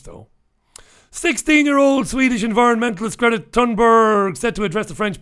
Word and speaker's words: Thunberg: I think they say Thunberg. They don't pronounce the TH. It's a hard T. Thunberg.